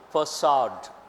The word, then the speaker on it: facade: a PACA de facade how do you pronounce it facade see the car some doesn't come into picture facade facade means the front